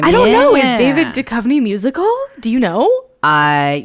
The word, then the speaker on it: Duchovny: okay okay David Duchovny is it Duchovny yes yes oh my God David